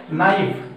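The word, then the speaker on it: knife: और देखिए दूसरा है नाइफ, नाइफ भी कैसे स्टार्ट होता है ना, तो के एन आई एफ ई, के बाद एन है, के हमारा मुख साइलेंट, प्रोनाउंसिएशन उच्चारित जो हमारा होगा वो होगा नाइफ, तो तीनों वर्ड में के बाद एन है।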